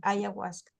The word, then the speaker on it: ayahuasca: moderno da mandrágora é, não sei como é a pronúncia em português, me corrija, por favor, se estou errada, ayahuasca. Nós falamos assim, ayahuasca.